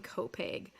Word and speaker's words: Copiague: lot of props for being a non-long Islander and pronouncing Copeg um flawlessly because if you if you all look at Copiague you're like that doesn't sound like Copiague but here we are